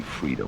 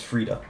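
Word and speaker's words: Friede: the words of Lady Freda will guide you lady Freda okay that's how it's pronounced show respect whole time lady Fred Lady freeday Lady Freda it's Freda okay we got it I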